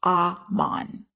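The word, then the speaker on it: אמן: In the Hebrew, this word looks the same as the Hebrew word amen, but is pronounced aman.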